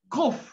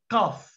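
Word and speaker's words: קוף: You pronounce it as U. Kibbutz. U. Like kof, not kaf.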